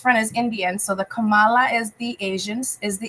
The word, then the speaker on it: Kamala: So she's saying, no, that's not how you pronounce it. It's coma. I hope I'm saying it right.